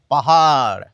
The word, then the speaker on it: পাহাড়: কিন্তু ওদের যদি বলি আগে এটা উচ্চারণ করো দেখি, পাহাড়, শেষের অ উচ্চারণ করছি না, তাহলে শেষের অ দেব না।